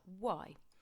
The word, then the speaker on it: y: use the word and, which in Spanish is the letter Y, which we can actually pronounce like the letter E, as you know.